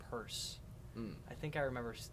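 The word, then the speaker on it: Peirce: Yeah, I think it's pronounced Purse.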